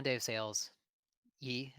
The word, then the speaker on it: Ye: Yee, is that how you say it? Is it Yee or I Yay? believe Yay is Yay, okay. okay. Like Kanye, okay. Yeah, see, Uh, yeah, it's Yay.